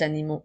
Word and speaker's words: animaux: Attention, A-U-X, le X est une lettre muette qui remplace cette fois-ci le S qu'on met lorsque les mots sont au pluriel.